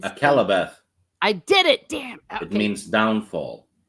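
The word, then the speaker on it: Akallabêth: I always mispronounce it. Alcarabeth is Akalabeth.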